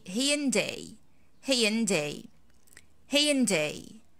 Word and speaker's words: Hyundai: that you are mispronouncing you probably say hyundoi right this dui this is like the mere beautiful egyptian accent so how can i say this brand in english i say hey ian day hey in day hain